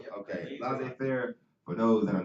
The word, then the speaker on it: laissez-faire: Did I pronounce it right? Yeah. Okay, laissez-faire.